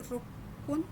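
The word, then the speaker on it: ろっぷん: 6 minutes रुकपुन।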